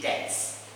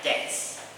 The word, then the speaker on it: debts: This word is silent B, so you say debts, don't say debt, alright, debts.